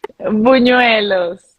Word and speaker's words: buñuelos: Buñuelos. Oh my God, you have a Ah, good pronunciation.